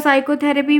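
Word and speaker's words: psychotherapy: आगे बढ़ी उसके बाद साइकोथेरेपी में क्या है तो यहां पर पी साइलेंट है ठीक है क्या साइलेंट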